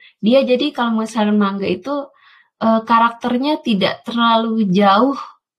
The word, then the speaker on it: manga: Ternyata manga saja dibacanya manga ya, manga.